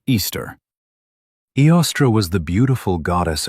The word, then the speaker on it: Eostre: This specific goddess was named Eostre, pronounced Easter.